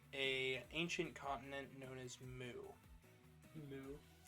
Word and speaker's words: Mu: to bring back a ancient continent known as moo moo it's spelled m u i was this I was